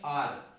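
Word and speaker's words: hour: यहां पर जो एच है इन दोनों में ही साइलेंट हो गया, इसको हम बोलेंगे आर, या इसको कुछ अवर भी बोलते हैं, लेकिन अवर नहीं होता, ये आर होता है।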